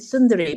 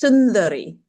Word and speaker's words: Sundari: But we would pronounce it sunduri.